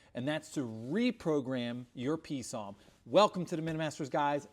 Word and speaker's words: PSOM: So it's an acronym, and it's PSOM, pronounced PSOM, which stands for Programmable Speedometer Odometer Module.